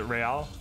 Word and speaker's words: real: Is it Real? Yeah. Like Real Madrid?